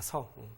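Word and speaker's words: 恕: 이 한문은 서자라고 읽죠. 공자의 서사사입니다. 서.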